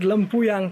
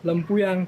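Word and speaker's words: Lempuyang: say the name of the temple it's called lampuyan temple lampuyan temple or you can say git of Heaven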